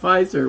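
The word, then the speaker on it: Pfizer: kife everybody knows that's you spell it has PF but you say it fizer well you have knife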